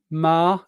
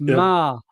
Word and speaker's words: Maher: Mar, M-A-H-E-R, pronounced Mar, as if the it's